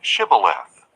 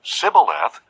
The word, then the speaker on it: Shibboleth: If he answered no, they told him, "Please say Shibboleth." If he said Sibboleth, because he could not pronounce it correctly, they seized him and killed him at the fords of the Jordan.